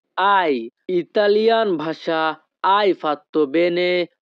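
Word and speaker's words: hai: হবে আই ফাত্তো Bene Italian ভাষাতে এইচ এ আই এর উচ্চারণ হবে আই ইতালিয়ান ভাষা আই ফাত্তো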